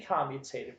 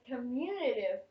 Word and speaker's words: commutative: The first property that we're going to look at, okay, and there are 2 acceptable pronunciations of this. I call it the commutative property. She prefers to call it the commutative property. Both are acceptable.